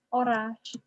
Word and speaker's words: oraș: dinche oras, Dinche Oraș. With a sh.